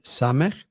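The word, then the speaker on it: סמך: And then we have Samech. That's like the English letter S as in sin.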